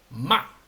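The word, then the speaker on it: 骂: no entonces el el el tono cuatro es un sonido así seco que tiene que caer seco e y rápido no Entonces con ma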